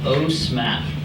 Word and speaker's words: OSMAP: In short, we like to call it OSMAP. So it's kind of easy to remember, right? Rhymes with OSNAP.